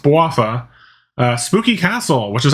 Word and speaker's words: Bouapha: that is the adventures of waffa yes it's pronounced bowafa uh spooky castle which is actually part of